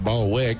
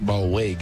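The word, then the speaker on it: Ballweg: the ball wig family we kind of went with baldwick because that's what it looked like and so anyway ball wig is the way his name is pronounced and he's not in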